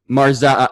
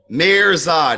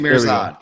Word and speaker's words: Mihrzad: people your last name sure super simple mayor Zod Mears nod yes like all consonants but yeah